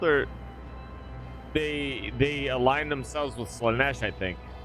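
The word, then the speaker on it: Slaanesh: Plus they're Drakari or whatever they're called, or they align themselves with Slanesh, I think, or Sal Thresh. That's how they say it in this game.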